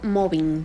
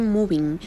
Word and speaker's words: mobbing: Sí, el acoso laboral, y como muy bien usted lo pronunció, mobbing, porque desde ahí hay que tener pues la aclaración, ¿verdad? No se dice moving.